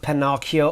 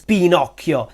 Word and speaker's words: Pinocchio: leio by Carlo Kodi no it's not Pinocchio or Pinocchio or Pinocchio no is Pinocchio the adventures of Le Avent Pinocchio Pinocchio say it with me Pinocchio by Carlo